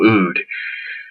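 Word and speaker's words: oud: side note happens to be a no soy it's spelled in 0 0 UD no ood is a fragrance which smells exactly like ood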